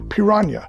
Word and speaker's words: Piraña: my gringo dialect but i believe the name is pronounced piranha so that's what i'm going